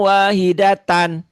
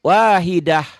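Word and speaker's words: واحدة: Wahidatan kalau dihentikan enggak wahidata tapi tnya jadi sukun. Wahidah zaahidah. Ibu tahu tadi ee bacanya kenapa enggak wahidata? Tahu enggak alasannya? Karena karena ini kan ta marbutah. Benar. Betul. Tak marbutah itu apabila dihentikan dibacanya jadi sukun.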